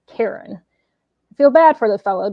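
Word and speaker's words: Charon: mispronounce his name as charin it's actually um and it's spelled c h a r o n but it's actually pronounced Karen feel bad for the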